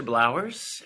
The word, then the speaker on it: Blowers: Hey folks, I'm Professor Blowers, and it's just like flowers with a B. That's how you say my name.